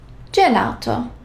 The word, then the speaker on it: gelato: G plus E. Gelato. Otherwise, it would sound like G.